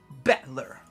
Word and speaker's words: Battler: It's made up from characters for fight and person. It's pronounced battler.